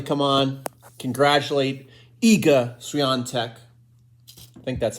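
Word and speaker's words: Świątek: Well, B2 and I just wanted to come on, congratulate Iga Swiatek. I think that's how you say her name. There's like an N sound in there, even though there's no N in the spelling.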